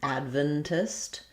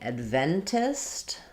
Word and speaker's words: Adventist: If I'm saying Adventist, then I'm going to lose that clear a. It's going to be much shorter and more almost like an I sound, id or adventist. And that would have second syllable stress. My E then would be clear, Adventist.